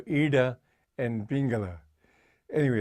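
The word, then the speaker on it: iḍā: under the eye and the way to pronounce that that D with the dot and there is you have your tongue at the back and push it forward so Eda and pingala anyway it's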